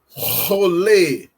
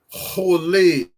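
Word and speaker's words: חולה: Rolê. Rolê. Rolê. Então nós temos aqui o R, que precisa ser eh puxado na garganta para ser pronunciado.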